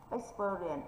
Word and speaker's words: experience: Experience thì ex không nhận trọng âm thì chữ experience sẽ nhận trọng âm.